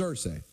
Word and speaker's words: Irsay: Well, first of all, before we get into this Jim Irsay story, which is it Irsay or Irsay? We all, It's Irsay. We don't go ear.